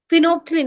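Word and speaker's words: phenolphthalein: फिनोप्थलीन, हाँ बेटा, P silent है।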